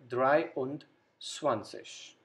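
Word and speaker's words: dreiundzwanzig: sis 20 when we combine this we get dry und swanseas then 24 again the same process the last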